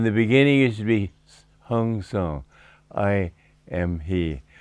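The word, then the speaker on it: Hong Sau: beginning it should be hong song i am he hong sha is the way they say it in bengal and so that's the way i prefer to pronounce that s.a.u hong shang and with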